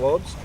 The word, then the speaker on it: Wobst: that today uh Joan Wes pronounced like a V sorry VST V yeah